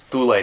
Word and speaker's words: Thule: Which we would pronounce Thule Society.